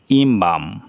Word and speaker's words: embalm: এখানে আছে EMBALM, এল এর পরে এম আছে, তাহলে এল উচ্চারণ হবে না, কারণ যেহেতু এম এর পরে কোনো ভাওয়াল নেই, তাহলে ইমবাম, সুবাসিত করা।